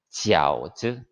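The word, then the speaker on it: 饺子: 자, 이렇게 먹는 만두를 중국에서는 우리의 떡국과 같은 것인데 교자라고 해요. 우리 발음으로. 중국어로는 지아오즈, 지아오즈라고 하는데 서울에 가면은 그 명동에 유명한 교자집이 있어요.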